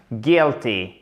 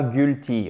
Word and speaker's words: guilty: Donc ici en anglais, quand vous avez l'enchaînement UI, ça se prononce souvent ou la plupart du temps, même tout le temps, comme un I bref, ce qui nous donne guilty et non pas guilty, ok?